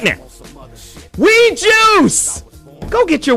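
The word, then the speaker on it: Oui: Go get your Weed Juice situation. $30 off, 30% off at Weed Juice. You got to use that code. We live, we love, Weed Juice. And that last we is spelled O-U-I, Weed Juice.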